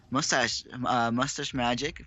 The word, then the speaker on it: Mustachemagic: These 2 players still Mustachemagic 14 health, NephilimArmy at 17, relatively even. Mustachemagic, I believe that's pronounced. Must ache magic.